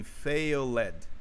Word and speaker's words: failed: É que esse ED, ele não é pronunciado, né? Eu tenho muitos alunos que aprenderam e pronunciam esse E aí. Então, eles pronunciam assim, failed, failed, failed, failed. Não é assim, certo? Então, você vai pronunciar como se fosse O fail, o verbo fail, tá? Fail, fail. Junto com o D só.